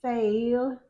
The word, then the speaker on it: fail: It's There's a change in fail. Fail to get that I sound. Fail. And it's a long a fail. It says a in the middle of it.